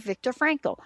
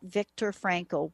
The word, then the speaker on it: Viktor Frankl: and understanding it from reading the work of Victor Franco uh one of you just uh pinged me I'll spell it it's not what you think but if